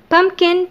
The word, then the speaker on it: pumpkin: pumpkin نخلي بالنا، pumpkin ما نطقناش ال p الثانية.